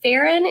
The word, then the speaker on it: Pharun: And it's pronounced Pharun, is that right?